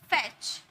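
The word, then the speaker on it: fetch: फैच, T silent है।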